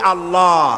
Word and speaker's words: আল্লাহ: নামের উচ্চারণ হচ্ছে আল্লাহ মুখটা একটু গোল হয়ে যাবে বলেন আল্লাহ আল্লাহ সুবহানাল্লাহ